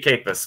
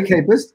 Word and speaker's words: Kajpust: is is jerry that's actually a campus yeah that's a j is silent it's a silent day yeah mary campus and i just met